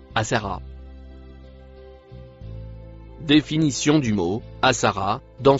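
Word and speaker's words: آثر: Peut-être la lettre noire c'est la conjonction et le mot rouge se prononce asser.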